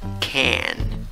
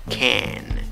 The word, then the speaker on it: can: un poquito, tienes la A que se ríe, can, can, ¿ok?